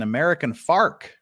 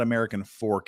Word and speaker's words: American Fork: great camera angle um joy catcher lived an american farc she lived in american farc that's how you pronounce that in utah it's not american fork it's american farc where they drink milk and